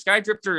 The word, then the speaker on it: SKYDRFTR: Skydrifter is spelled SKYDRFTR.